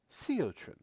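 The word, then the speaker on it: Siotrin: Seotin. Seotrren. Seot. You spell that. Of course. S I O T R I N. That's what I heard. Sean like sea urchin.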